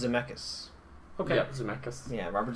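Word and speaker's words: Zemeckis: 2 directed by Robert zus starring Christopher Lloyd and Michael J fox I think it's pronounced zamus okay yeah zamus yeah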